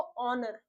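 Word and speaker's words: honour: हमारा H silent होगा। पढ़ेंगे उसको ऑनर।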